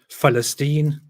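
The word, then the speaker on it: فلسطين: of the p in Arabic you pronounce it as festine which is a which is a derivative from Greek which slightly makes it sound like an f um because you can't s you can't pronounce the actual word Palestine because you don't have the P sound which is why you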